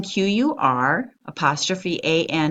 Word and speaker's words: Quran: n Qur aan Qur ' aan the spelling Qur ' a n is actually the most correct spelling of this